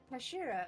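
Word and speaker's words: 頭: It's written as head in Japanese, but it is pronounced Kashira, Kashira.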